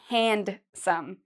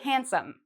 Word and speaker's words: handsome: I know you see the word here, hand, but we don't say handsome. We say handsome. So it's as if this D isn't there.